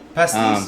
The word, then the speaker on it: pastis: Pastis, yeah.